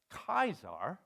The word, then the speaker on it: Caesar: But in Old Latin, right, this would be pronounced Kaiser, right?